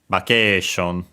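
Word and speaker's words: バケーション: Luckily, the accent is just like in English, so on the K, vacation, low, high, and then everything else low.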